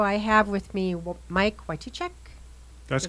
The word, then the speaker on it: Wytychak: in the studio I have with me Mike Whitey Che that's correct pronounce it correctly Che you got it right